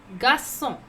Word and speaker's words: garçon: It is garçon. Garçon. Boy, garçon. Garçon. C with the circumflex you have to pronounce S.